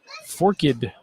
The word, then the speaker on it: Forked: a gas pump 3-0 forkid pronounced orchid let me get that right pronounced forkid by the locals foreign get that right